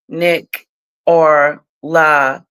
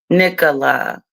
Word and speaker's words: Nicola: Americans say Nick or La, but here in Britain, it's Nicola.